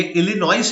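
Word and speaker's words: Illinois: Abraham Lincoln of लिनॉय देखो ये इलिनॉइस है लेकिन इसको प्रोनाउंस कैसे करना है इनोए ठीक है तो व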